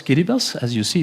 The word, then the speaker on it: Kiribati: The Marshall Islands, Kiribati, that's how you pronounce this, Kiribati Kiribati.